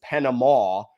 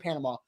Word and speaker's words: Panama: But you also don't say Kansas and Arkansas, right? It's not like it's a different word, so it has a different pronunciation. It is absolutely Panama.